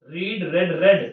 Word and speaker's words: read: I would have रेड third form, spelling वही same रहती है, रीड वाली जो स्पेलिंग होती है ना, READ, वही रहती है READ।